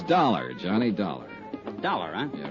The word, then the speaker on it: Dollar: Buzz I didn't it's dollar Johnny dollar dollar huh yeah rhymes with collar I always like to